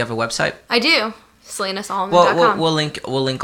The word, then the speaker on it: Salina: how do you say your first name Selena Selena mm-hmm boom I did it I just now anyway so you got some stuff coming up and look her up you have a website I do Selena song will link will link all of that